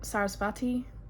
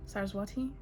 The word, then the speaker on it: Saraswati: um what was the other one Cyrus what sarsapati Saraswati sorry um as you may know my pronunciation is not my it's not my strong